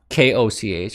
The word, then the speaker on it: Koch: The Koch network stopped, Koch, I think that's how it's pronounced, right?